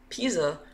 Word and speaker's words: Pysa: years old let's go pisa which stands for python static analyzer is a tool that tracks data flow through python code it's pronounced like the leaning tower of pisa and was built on